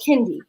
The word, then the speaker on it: Kendi: And I was like, okay, the next one of y'all that calls my child Candy, we're going to have a problem. Her name is Kendi.